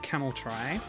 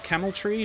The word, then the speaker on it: Camel Try: called camel try um you might think it's camel tree but based on the Katakana I used to spell the name of the game in Japanese uh you are supposed to pronounce the try as such um kitty cute kitty